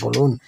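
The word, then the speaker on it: ب: আপনার 2 ঠোঁটের ভিজা জায়গা থেকে আলতো করে লাগিয়ে বলুন বা।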